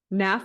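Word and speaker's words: NAAF: not enough for short is that how you pronounce it yeah we say nav Naf okay how nap got started who started it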